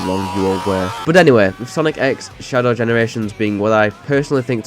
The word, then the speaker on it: Sonic X Shadow Generations: X Shadow Generation so the X is not silent correct correct yes so